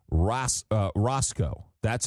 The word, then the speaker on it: Racicot: And we asked him and he said it's pronounced Ros uh Rosco. That's how he pronounces it. Rosco, tell him the Italian boy that speaks French, English, Ukrainian up in Montreal says it's Rasico.